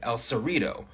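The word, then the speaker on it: El Cerrito: our top teeth and that leads to things like El serito where I used to live being pronounced more like El serito we also see that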